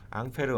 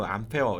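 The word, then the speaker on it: Ampère: 4번이 답이 되는 거죠 앙페르 암페어 이건 영어식 뭐 프랑스식 이런 발음 차이 적 같은 사람입니다 4번이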